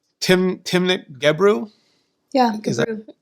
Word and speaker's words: Gebru: But I think it's fair to say that, I'm going to pronounce her name wrong. I know it. It's Timnit Gebru? Yeah, Gebru. Gebru.